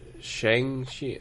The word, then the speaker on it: Shang-Chi: Even Shang-Chi, like I don't even know if I'm pronouncing that right. Right? Is it Shang-Chi? It's Shang-Chi.